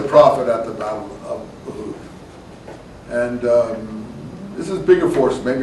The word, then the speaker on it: Uhud: Uhud. It's spelled there, U-H-U-D.